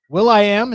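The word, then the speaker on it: will.i.am: 47 years old okay can we just call him William no because it's Will i Am why do you get to put periods in the middle of your name to change the pronunciation of it because it's his name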